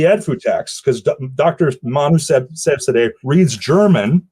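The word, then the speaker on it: Seyfzadeh: I think Sevzadeh is the right way to pronounce it.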